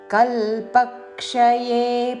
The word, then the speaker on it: కల్పక్షయే: മാമികാം മാമികാം ప్రకృతే మామికాం కల్పక్షయే పునస్థాని క మీద ఆఘాత కల్పక్షయే కల్ప లోని ప మీద ఆఘాత పలుకుతూ కల్పక్షయే కల్పక్షయే పునస్థాని నా మీద ఆఘాత పునస్థాని చివరిలో ని హ్రస్వము కల్పక్షయే పునస్థాని కల్పాదౌ కామేఘాత కల్పాదౌ